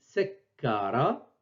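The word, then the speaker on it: سكّر: Donc, l'orthographe correcte du verbe, c'est celle-ci, sekara. Donc, ke, on l'écrit une seule fois. Au-dessus, on met la shedd. Pour dire qu'il faut l'accentuer, il faut la doubler pendant la prononciation. Donc, je répète, sekara.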